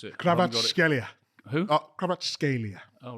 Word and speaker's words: Kvaratskhelia: That's it, Kvaratskhelia.